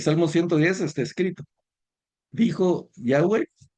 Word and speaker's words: Yahweh: De ahí, de esa expresión de Jesús salen las cuatro letras, que es W, H, Y, eso se pronuncia Yahweh o Yahvé.